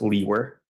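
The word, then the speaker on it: Liewer: my last name is spelled l-i-e-w-e-r and it's pronounced Lee were and where are you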